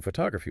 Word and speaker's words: photograph: related words like the photography ones? Oh, that's a fantastic illustration of how it's not random. There are patterns. So, you start with photograph stress on the first syllable.